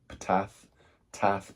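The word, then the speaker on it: Ptath: The book of, I don't know how to pronounce it, Tath, probably with a silent P.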